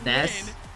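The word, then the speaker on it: Nass: Did you guys know the way his name is pronounced is Ness? Did anyone know that? But everyone literally calls him Nas, so he just goes by Nas now.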